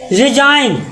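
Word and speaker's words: resign: science मतलब का विज्ञान विज्ञान सी साइलेंट सी साइलेंट और आपका रिजाइन आर ई एस आई एन जी आर इ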